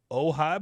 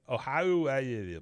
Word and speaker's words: Oahu: Tomorrow's Christmas service falls right between the Aloha Bowl and the Ojai Bowl, I think it's like. I don't know how you say it. Oahu Bowl. And Oahu. Oahu Bowl.